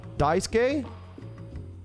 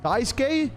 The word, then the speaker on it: Daisuke: Hang in there, Dasuke. Suke is pronounced Ske. Daisuke? Daisuke?